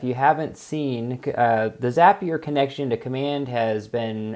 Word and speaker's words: Zapier: and it is pronounced zapier i asked that company specifically sometimes it's called zapier but it's actually zapier and they said because zapier makes you happier so it's a good